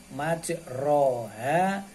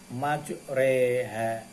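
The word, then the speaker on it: مجراها: Tulisannya majroha, tapi harus dibaca majreha.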